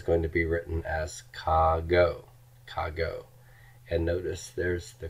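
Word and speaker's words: κἀγώ: And this is going to be written as kago, kago.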